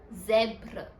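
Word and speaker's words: zèbre: finally and इट्स the letter जड एंड इ pronounced as जद जड वर्ड इज जब्र जब्र च means जेब्रा in English I hope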